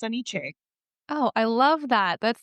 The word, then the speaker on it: AniChe: So I put them together and it's AniChe.